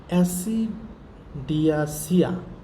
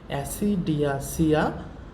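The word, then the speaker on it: Ascidiacea: একটা হচ্ছে অ্যাসিডিয়াসিয়া, নামগুলো খুব কঠিন, তারপরেও একটু উচ্চারণ করবো, বাংলায় উচ্চারণ লিখে দিয়েছি এই কারণে। অ্যাসিডিয়াসিয়া।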